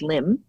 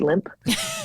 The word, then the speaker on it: Lympne: It is pronounced limb, which I haven't told my husband. He thinks it's limp. So he's Prince Limp.